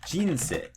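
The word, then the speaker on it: 人生: And so we can say, for example, maybe it drops right after the first syllable, like jinsei.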